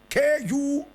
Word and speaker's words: Kubindwor: Kubindwo is spelled Kubindwor.